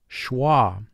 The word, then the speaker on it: schwa: mark the word schwa notice there is a wave sign under the letter s the wave sign indicates a letter or letter team is silent as it is in this word schwa notice ch has a